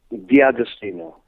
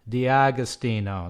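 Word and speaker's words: D'Agostino: Pronounce it for me. I apologize. Dagostino. Dagostino. There you go. Dagostino.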